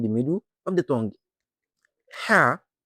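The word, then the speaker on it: حاء: Ha, the sixth letter and has no dot. Its sound comes from the middle of the throat and is soft and gentle.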